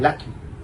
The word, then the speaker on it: LACCMI: देखिए, हमारा सरकार आने से पहले एक व्यवस्था था लक्ष्मी के नाते, लक्ष्मी बस, हाँ, लक्ष्मी नहीं, वो सिर्फ LACCMI, लक्ष्मी pronunciation, exact pronunciation लक्ष्मी के नाम पे लक्ष्मी